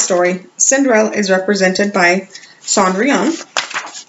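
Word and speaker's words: Cendrillon: my last story is cinder lon I think I pronounced that where I'm not really sure I thought I could find out it is actually Sandri on I can remember that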